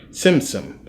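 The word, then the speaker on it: Tzimtzum: Simsim, it has a T, but you pronounce it like tsunami. Simsim.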